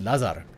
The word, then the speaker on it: Lazar: He's got a cousin uh living in Belgrade and his name is Lazar. They pronounce it Lazar, but I think it's much funnier. So, it's uh it's written